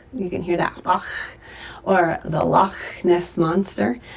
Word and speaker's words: Bach: It's a little bit like the musician Johann Sebastian Bach. You can hear that, Bach, or the Loch Ness Monster.